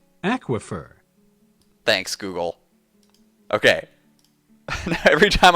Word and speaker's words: aquifer: available a Google's not giving me the answer aquifer aquifer aquifer thanks Google okay every time I want to